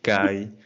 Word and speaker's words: Cádiz: me encuentro muy divertido la manera en la que pronuncian cádiz dicen tales como kay entonces casi desaparece la s la de sólo no queda mucho pero yo creo que